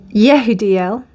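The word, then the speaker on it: Jehudiel: Wow, Jehadiel. Let me just look that up. Wow, pile 4. Well, this is very interesting because Yehudiel, which is the correct way to pronounce it, is about, he is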